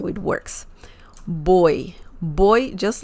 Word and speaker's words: voy: boy uh remember that the V sound in Spanish is very similar to the b as in bell sound so boy boy if you say voy it's okay people will